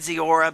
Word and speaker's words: Kora: okay with that cuz people say my name wrong all the time and I have to you know tell them it's Kora but you know it